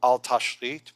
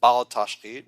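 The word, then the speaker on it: בל תשחית: It's called al tashrit. Most people pronounce it bal tashrit, which is wrong, but that's okay.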